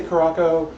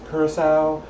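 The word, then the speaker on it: Curaçao: dry uh Croc well I say karako it's probably pronounced Curacao um please correct me in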